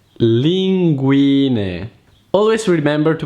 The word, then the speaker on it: linguine: When a word ends with the vowel E, which in Italian is E, you have to pronounce it like it's written. And don't pronounce it like an Italian I.